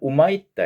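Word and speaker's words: Humaitá: 그런데 영어로는 휴마이타라고 써놓고 있기는 우마이타 이렇게.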